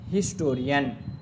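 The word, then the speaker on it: historian: आ हिस्टोरियन, तो एच क्या है? एच पढ़ा जा रहा है। हिस्टोरियन तो क्या होगा? ए ही यूज़ होगा। आगे these words begin with H एंड the sound H is pronounced, that is एच इज़ not silent. जब एच साइलेंट नहीं है तो हम क्या यूज़ करेंगे? ए यूज़ करेंगे, ना कि एन यूज़ करेंगे।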